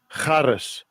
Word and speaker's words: Charis: Charis. Charis. That's how you say it.